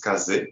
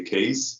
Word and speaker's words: Kaze: uh the word is the correct way of saying the word is Kaz because it's from the Japanese wind Kaz uh but for for